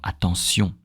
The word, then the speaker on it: attention: And for example, the words ending with sion, which is T-I-O-N, you know, attention, nation. Okay, in French we don't say sh. We know the sound sh, like attention, nation.